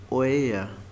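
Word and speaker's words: euer: जो पहले वाला है उसका प्रोनाउंस है ओया ओए अ आर हमने कहा था कि साइलेंट जर्मन में कुछ भी नहीं है बट एंड में जो आर आता है ना तो उसको जर्मन लोग ज्यादा जोर नहीं देते आप पढ़ सकते हैं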